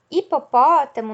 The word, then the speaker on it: hipopótamo: inicia com h hipopótamo hipopótamo novamente o h vem no início da palavra mas ele não tem som e tem o som de i porque a letra que ele está acompanhando né som de i de hipopótamo vem por causa da vogal e não por causa do som do h tá certo então h